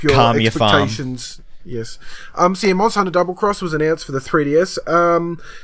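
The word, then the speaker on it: Monster Hunter XX: It's actually pronounced, I'll have you know, Monster Hunter Double Cross!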